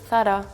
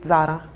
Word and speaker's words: Zara: of a girl saying that oh you're Mis pronuncia Sara it's not thara it's Sarah but it's actually called thara in Italian we have the Z more like a strong so we always say Zara similar in Germany we pronounce the Z really